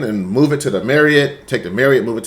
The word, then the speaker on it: Marriott: Some people call it Marriott, but I actually knew somebody that worked for for it and they said it's pronounced Marriott, so I'm going to say Marriott.